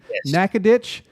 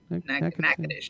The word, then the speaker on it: Natchitoches: He's going to be in Natchitoches. Natchitoches. I said it right. Well, did I say it right? Natchitoches. Natchitoches. You just got to let it roll. You two Oklahoma there. Just let it roll, Natchitoches.